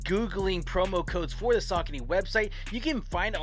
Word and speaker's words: Saucony: So it's not Saucony, it's Saucony. a knee.